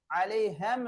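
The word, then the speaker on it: عَلَيْهِمْ: நல்லா உச்சரிப்பு செய்ய வேண்டும் அலைஹிம் அலைஹம் என்று ஓதக்கூடாது அலைஹிம் என்று ஓத வேண்டும் வலம் வல வனம்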